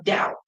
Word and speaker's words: Tao: T A T A Oism toism is pronounced with a D though. It's like dao.